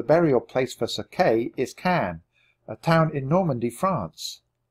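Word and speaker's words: Caen: for you so do you have something we can take to Kathleen ask Jack oh yes said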